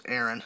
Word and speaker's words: Arin: I'm pretty sure I've seen a live show where M Shadows said his name Arin, so I'm going to go with his name's Arin. That's the way they pronounce it.